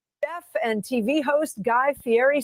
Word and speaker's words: Fieri: It's Fieri.